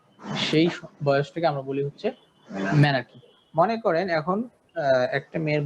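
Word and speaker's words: menarche: এটার উচ্চারণটা হবে কি? মেনার্কি।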